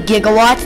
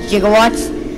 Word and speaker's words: gigawatts: 1.21 gig of power it's actually gigawatts not jigawatts that's a mistake they